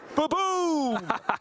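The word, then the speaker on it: Ba-Boom!: Baboom is, of course, the correct pronunciation of that card, especially when it's taken out a big threat on your opponent's side of the board.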